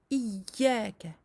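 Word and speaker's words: إياك: La shadda du ya doit être douce, ne doit pas être bloquée. Nous ne devons pas dire iyyaka. Le ya, c'est comme cela que l'on doit le prononcer quand il porte une shadda.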